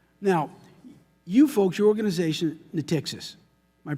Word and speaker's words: Natixis: Now, you folks, your organization, Natixis, am I pronouncing that correctly?